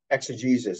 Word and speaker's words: exegesis: And basically that's exegesis. It's spelled E-X-E-G-E-S-I-S.